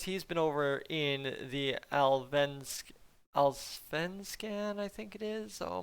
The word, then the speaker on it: Allsvenskan: He's been over in the Allsvenskan, I think it is. Oh my goodness. Somebody corrected me on this the last time and I absolutely butchered it. Let me get this. Allsvenskan.